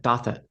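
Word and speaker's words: Douthat: Ross this week as Dothett. well. How do you say Ross's last name? I say it. Dothett. Dothit? That's how I say it.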